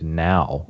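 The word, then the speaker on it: NAO: downloaded 2 albums, one by this artist named Now, N-A-O. It doesn't, Oh, it's dude, I not love spelled that band. like a normal Now. It's spelled like, like the other, like N-A-O.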